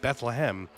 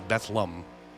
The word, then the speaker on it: Bethlehem: that uh you know we just came out of the Christmas season where it's pronounced Bethlehem but uh here in the Rolling Hills of the Keystone State that's betham yeah it's the only one